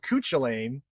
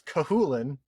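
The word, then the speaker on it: Cú Chulainn: i loved called well i thought he was called kuch elaine and then later on i found out you found out it's kahulin where like you don't pronounce a whole bunch of the letters in there yeah because it's yeah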